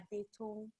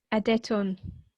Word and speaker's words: Adetun: So you can pronounce my name as Adetun. Adetun.